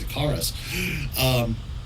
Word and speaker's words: Icarus: The other four, Cathedral, Enid, Imago, Icarus, I need to pronounce that correctly, it's Icarus.